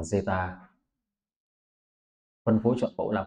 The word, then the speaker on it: zeta: một biến ngẫu nhiên, cái này đọc là zeta.